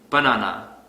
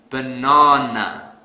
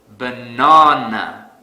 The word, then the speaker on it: banana: program here's another example let's say I pronounce this word has banana this is incorrect because I don't stress the second syllable so to fix this I will stress the second syllable really hard banana banana the sad silly but